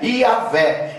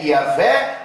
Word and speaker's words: Javé: Testamento vinham ensinando que a pronúncia antiga do nome é yavé e na forma aportuguesada é iavé ou Javé irmãos tinham homens chamados